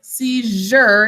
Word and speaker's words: seizure: and rewrite it okay so for the base word sees seizure is the way that we say it we've got this phonogram